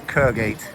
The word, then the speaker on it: Kirkgate: And this is Kergate. Funny actually, they don't pronounce the K in Kirkgate, and they don't pronounce the T in Britain either, so many people.